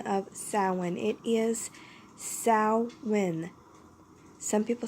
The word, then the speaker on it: Samhain: a brief history of salmon with the proper pronunciation of salmon it is Sal when some people say Samhain but it is actually salmon just gonna let